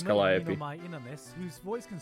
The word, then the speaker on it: Calliope: You've got a tsundere death god rapper in Mori Karaoke, who's actually insanely talented in music and releasing her own original songs. The Yeah, and you said it wrong, it's Calliope.